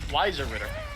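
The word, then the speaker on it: Weißer Ritter: You're supposed to pronounce it like an S. Weiser Ritter. But we don't know that because we're not German. That is the correct pronunciation.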